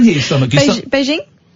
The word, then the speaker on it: Beijing: Is that Beijing? It's a hard J. Beijing.